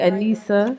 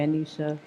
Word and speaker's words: Aneesa: So am I saying it right, Anissa? Yes. Right? Because I've seen some of the interviews and some people call you Anisha.